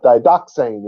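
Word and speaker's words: διδαχήν: We begin with didaxane. Ever heard of the didache? It's people mispronouncing this word. Didaxane is how you say it, and it means doctrine.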